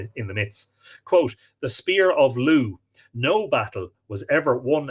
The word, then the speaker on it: Lug: That's spelt L-U-G, but pronounced Lugh, and Lugh gives his name to the Irish county of Louth, which is the county that I live in.